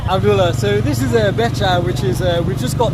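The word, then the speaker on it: becak: It's Becha. Okay, thanks. Again, we've been saying it wrong. We've been saying Bekak, so that's why no one's understood. It's called Becha.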